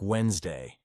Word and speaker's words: Wednesday: For example, Wednesday isn't pronounced the way it's written. It sounds like Wednesday.